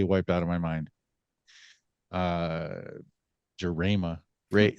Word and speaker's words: Jarema: Baseball Club of Lansing, Michigan, we have Michael Jarema. Well, I'm going with Jarema. Jarema. Was I Jarema. closer? It's wait, am I muted? Can you hear me? No, we can hear you. Okay, it's Jarema.